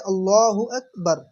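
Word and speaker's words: الله أكبر: এই শব্দটা এ শব্দটা আসল উচ্চারণ হচ্ছে আল্লাহু আকবার।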